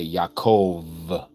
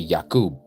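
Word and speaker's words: יעקב: So, it should be Yakub with a B.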